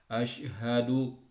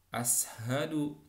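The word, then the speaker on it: أشهد: Nah, dia mengerti tentang membaca misalnya shinnya shin besar. Asyhadu bukan ashadu, ya.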